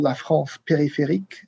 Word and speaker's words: la France périphérique: Or maybe let's Phil say that one because you've got a slightly better pronunciation than me. You said it very well. There's no need for me to correct.